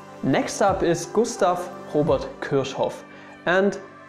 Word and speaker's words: Kirchhoff: Next up is Gustav Robert Kirchhoff, and even German people get his name wrong because some like to call him Kirchhoff, and this is not correct because he has two F's at the end of his last name, and well, you have to pronounce this with a short F in the end.